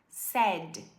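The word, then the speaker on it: said: E quando vai pro passado, que fica assim, ó, para todo mundo, a gente vai pronunciar sad igual triste.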